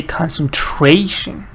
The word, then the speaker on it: concentration: that you can feel so here you say concentrate but here you say concentration actually I put one extra syllable concentration yes so I'll